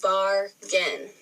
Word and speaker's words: bargain: So you go bargain. So you have bar and gin. Look for our R-influenced A spelling pattern for this week. It'll be A-R. So it's actually in the first syllable.